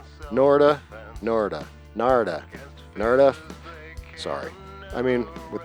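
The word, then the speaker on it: Narada: Na rhymes with Florida. Norta. Norta. Narda.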